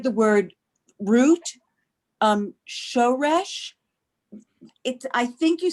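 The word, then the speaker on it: שורש: What I meant to say is on the next to the last syllable. In that case of a 2-syllable word, that would be the first syllable, but that's mil el.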